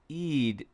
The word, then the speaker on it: Eid: It's pronounced closer to Eid as an eel. Okay. Eid Mubarak. Eid, not Eid.